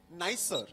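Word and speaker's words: NISER: Nisar or N-I-S-E-R? How do you say it? Nicer.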